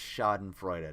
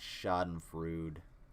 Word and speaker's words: Schadenfreude: planet yeah that's 100 true dude and it's pronounced shot and freud not shot and fruit hannah uh yeah it's it's nice to take